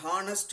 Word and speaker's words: honest: Like an honest man. Here H is silent.